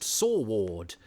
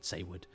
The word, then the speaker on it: Saward: Eric Saywood, I used to think, I know, it's a funny name, Saywood, and I certainly used to think it was pronounced Saward, until I saw a documentary about a true